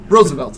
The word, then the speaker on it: Roosevelt: yeah yeah no okay it's not Roosevelt I understand that it's spelled rule but the man's name was pronounced Roosevelt and if everybody heard any kind of speech where they go ladies and gentlemen president United States Teddy Roosevelt they don't